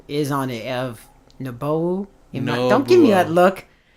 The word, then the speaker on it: Nobuo Uematsu: Nobuo Uematsu. Nobuo Uematsu is on it. Nobuo Uematsu. Don't give me that look. Nobuo Uematsu.